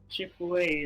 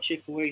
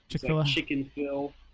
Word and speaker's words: Chick-fil-A: growing up we always I always said it wrong too chicken Phil like it just even even if you sound it out it's not how you say it I think my